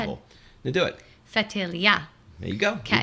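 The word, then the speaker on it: Ftelia: You need the heavier accent on the last syllable. Go ahead. Now do it. Fatilia.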